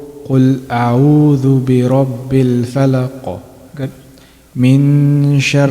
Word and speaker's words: من شر: Not min. إخفاء means to conceal or to hide. That means we're hiding the pronunciation of Noon. Okay. من شر. من شر. My tongue shouldn't be touching anywhere. The sound should be coming from the nasal.